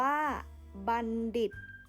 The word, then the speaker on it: บัณฑิต: นะ คะ คำ ว่า หมอ บัณฑิต อ่าน ว่า บัณฑิต นะ คะ บัณฑิต หมาย ถึง อะไร บัณฑิต หมาย